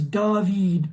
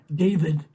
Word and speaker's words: David: The last name is David, not David.